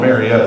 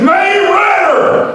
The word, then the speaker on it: Marietta: Anyway, I grew up in a little town called Marietta. This guy in West Virginia, he's like, oh no! You said it wrong! It's May Ritter!